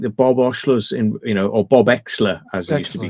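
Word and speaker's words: Oechsler: "Oh, people think that Bob Oshler's or Bob Exler, as he used to be Exler, yeah. called, because Bob Oshler, it's spelled like Oshler, but it's pronounced Exler.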